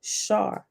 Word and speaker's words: SAR: heaven, or divine time called a SAR, pronounced Shar.